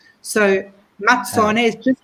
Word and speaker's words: Mazzone: You know, when you say pizza, it's a double Z, pizza, which makes a T sound. So Mazzone is just like pizza, the double Z makes a T sound.